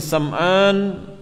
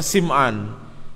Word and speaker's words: Sam'an: Kata beliau, faqad jaa fi haditsin Nawas bin Sam'an at-Tawili, maka sungguh telah datang di dalam hadisnya An-Nawas ibni Sam'an, sebagian ulama bacanya Sim'an, At-Tawili, hadis yang panjang.